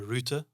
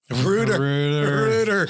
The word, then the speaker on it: router: speak to customers, because there's just some words that we just pronounce differently. Differently. Like a router here, we normally call it a router. Rooter.